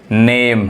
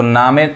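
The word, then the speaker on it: name: ये क्या पढ़ाएगा, Shem, नेम। समझ में आ रहा है, ई नहीं पढ़ा रहा है, इसको नामे गलत हो जाएगा, नेम, फेम, यानी ये जो FA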